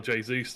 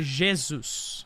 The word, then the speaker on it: Jesus: It would be Jesus, but of course Jesus. you don't need to. It's a very light G. It's like you're almost combining an SH with a J instead. So Jesus, but it's all good.